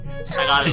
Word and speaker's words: Tagalog: The pronunciation of L words is pretty thick, right? I noticed. Like the word Tagalog itself. Tagalog. Yeah. They emphasize that.